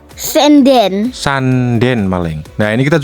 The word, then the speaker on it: Sanden: Sanden atau Sanden ini dibacanya ya? Senden.